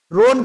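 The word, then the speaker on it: Rhône: cold और ड्राई है रोन का स्पेलिंग होता है एच पता नहीं उधर एच काहे साइलेंट कर देते हैं रोन नदी घाटी में जब बोलने ना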